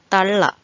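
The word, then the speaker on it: തള്ള: will be easy for you to learn the pronunciation. Kallan, kallan, kallan, kallan, which means thief. Kallan. Talla, talla.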